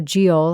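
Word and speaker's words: geol: Old English noun and it's spelled GE o l so giel I think both GI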